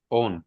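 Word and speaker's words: own: अच्छा ये ऑन ऑन नहीं बोलते सर इसको। डब्ल्यू एल ऑन ऑन ऑन। ठीक है? डब्ल्यू साइलेंट होता है।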